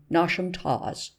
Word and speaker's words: Nottasentinum Towers: But the scene of this narrative is laid in the south of England, and takes place in and around Nottasentinum Towers, pronounced as if written Nosham Tawes, the seat of Lord Nottasent, pronounced as if written Nosh.